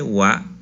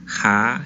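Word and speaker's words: は: Ha, hi, fu, he, ho. Pero cuando funciona como una partícula, no se va a pronunciar ha, sino se va a pronunciar wa, siendo que es la misma letra.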